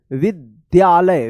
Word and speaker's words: विद्यालय: ये जो है ना आधा द और य के मिलने से अब बनता है ये इस तरह से इसको द पढ़ते हैं। द जैसे विद्यालय विद्या इसको पढ़ते हैं। जैसे विद्यालय इस तरह से विद्यालय य विद्यालय तो इसी